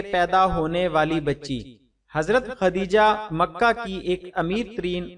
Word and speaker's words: خدیجہ: پہلی زوجہ محترمہ ہیں۔ کچھ لوگ ان کے نام کا تلفظ تے سے ختیجہ بولتے ہیں جو درست نہیں ہے۔ یہ لفظ خدیجہ ہے دال سے۔ خدیجہ رضی اللہ